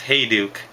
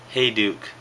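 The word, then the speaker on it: Hejduk: shop the other day it's pronounced hey duuk three out of 23 for the Avalanche hey duuk the patches are freaking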